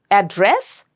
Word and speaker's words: address: So depending on how you are using that word in the sentence, you have to know which syllable to stress. Another very good example is address and address.